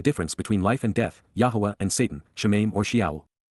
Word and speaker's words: Yahowah: are upright and correct, and therefore acquitted, Yahowah, Yahowah, the proper pronunciation of the name of Eloah, God as